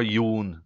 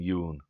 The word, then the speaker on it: Jon: say my name yeah it's more young than Yoon but I'm not sure Americans can do that I don't know so